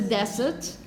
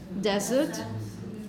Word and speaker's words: desert: in this is that the desert desert we with a voiced sound and the stress at the beginning of a word desert desert the Sahara